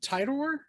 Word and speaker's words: Titor: John Titor, is that how you pronounce his name?